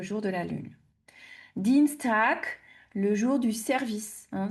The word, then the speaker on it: Tag: Attention à la prononciation aussi tac. Vous avez le g à la fin qui se prononce que hein.